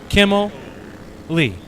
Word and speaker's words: Kimley: The easiest way that I remember his name, how to pronounce, Kimley's name is Frank Kimmel, 10-time ARCA driver, and then Lee at the end. So Kimmel, Lee.